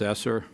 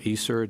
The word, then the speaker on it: ESSER: We have all of the COVID relief funding streams that have come along, which is primarily described as ESSER or ESSER, depending how you like to pronounce the E.